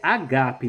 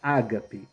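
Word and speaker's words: ἀγάπη: A leitura correta é agape, não ágape. Em grego, o acento está na segunda sílaba, no segundo alfa.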